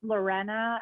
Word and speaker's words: Lorena: It's pronounced Lorena, and then Lorena.